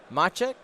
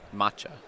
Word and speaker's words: Maciej: Maciej. I'm pretty sure it's Maciej. Maciej. It's like there's like a kind of a K at the end. Okay. Yeah. But not really.